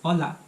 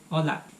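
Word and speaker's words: olá: In Portuguese, hi is hola. So it's very similar to Spanish except it doesn't have an H, but the pronunciation is pretty much the same. Hola.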